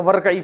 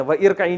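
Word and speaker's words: وَارْكَعِي: पढ़ते हैं ना तो वरई पढ़ते थे। व इरकई नहीं पढ़ते। यह तजवीद का कायदा है कि अब मिला के जब पढ़ते हैं तो यह अलिफ को साइलेंट कर देते हैं।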